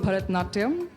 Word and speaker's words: Bharatanatyam: Help me pronounce it and show us a few steps. Well, it's called Bharatanatyam.